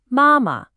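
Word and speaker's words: 妈妈: Mother is mama. High first tone then neutral. Mama.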